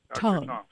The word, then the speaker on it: Tung: Tongue. Tongue, like tongue in your mouth.